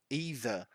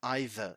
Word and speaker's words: either: with the other one either you can pronounce it either cheap both ways are correct right let's go see